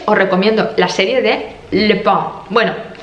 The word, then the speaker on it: Lupin: Y luego, como series, os recomiendo la serie de Lupin. Bueno, se pronuncia así, pero se lee Lupin.